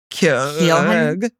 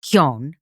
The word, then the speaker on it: Keoghan: Barry Keoghan.